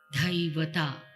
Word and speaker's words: Dhaivata: The Gandhara and Dhaivata are pronounced as the A, Ga, not A or E or A. It is in between, which is very good to activate this part. Gandhara, Dhaivata. We say dha, dha.